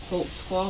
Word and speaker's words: Holtzclaw: I'll let your name there cuz I don't even know how to spell it. I can How do you say your name? Daniel Holtzclaw. Holtzclaw.